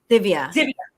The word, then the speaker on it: Divya: I want to make sure I'm saying, is it Divi? How do you say her name? Because we're reading Divya. Divya. Okay, Divya.